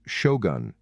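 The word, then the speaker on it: 将軍: This original Chinese title, General Jungjun, is pronounced shogun in Japanese, and it is a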